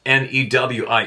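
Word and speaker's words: người: wouldn't have guessed that spelled nguoi but it's pronounced newi IE I would have guessed that easily without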